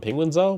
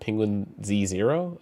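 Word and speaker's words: Penguinz0: Uh I called him Penguin Zo, but apparently you call it Penguin Z0. I don't know if that's really how you pronounce it, but hey.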